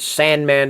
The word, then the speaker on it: S&Man: You know, and they even make sure that you know to pronounce it Sandman down here. I guess because they don't want somebody thinking, sand symbol man, I don't know. Or Sampersand man or something like that.